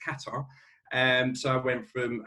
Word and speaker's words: Qatar: headquartered to go out to a place called qatar or he's pronounced qatar and so i went from hp to the